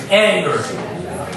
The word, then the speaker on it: Angehr: Guys, keep it going for Angehr, everybody. Thank you, Mike. My name is Angehr. It's pronounced just like the emotion, but it's spelled differently.